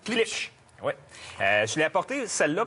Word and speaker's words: Klipsch: Oui, Comment tu la prononces? Klipsch.